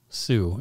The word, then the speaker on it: Sioux: It's as the indigenous folk, Sue, it's spelled that way.